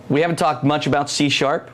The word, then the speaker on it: C#: It's pronounced C#, and that's why I keep saying C#. It's interesting we have that It on the looks slide. like C pound is why.